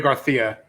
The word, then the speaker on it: Garcia: Sergio Garcia. Stop it. Group What? 9. That's how you're supposed to say his name if you're Spanish.